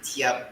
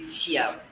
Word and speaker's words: Tyap: to speak Tyap, and they want to pronounce the word Tyap, but they will say Tyap. If you want to write that in the Tyap language, it will be TSYAP, and we don't have such a combination in Tyap, TSY.